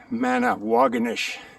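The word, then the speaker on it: Manawagonish: The other is Manawaganish. Which rhymes with Doganish.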